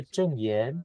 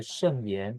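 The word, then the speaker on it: 證嚴: My master's name is Master Zheng Yan, not Master Sheng Yan, since they sound very similar.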